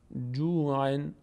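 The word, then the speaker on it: جوعٌ: کشیده بشه جو جو خب اینجا نون ساکن به همراه حرکت ما قبل خونده میشه میشه چی عن عن عن عن جوعن جوعن جوعن جوعن جوعن این نحوه تلفظ این کلمه سمت راسته اما شما جوعن رو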